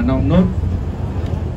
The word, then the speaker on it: Nongnut: Đó chính là tên của chủ khu vườn này, chúng ta đọc là Nong Nốt. Hai chữ O đọc là chữ U, Nong Nốt.